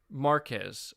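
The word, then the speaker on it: Marques: one as well yeah marcus is it pronounced marquise or marcus brownlee uh either way like he has marquez okay all right yeah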